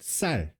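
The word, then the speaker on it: 쌀: Certain inflections are just for example, the rice is called sal, okay, like SSAL, sal. It's a very strong S, but for whatever reason, people from like Daegu and Busan, a lot of them say sal.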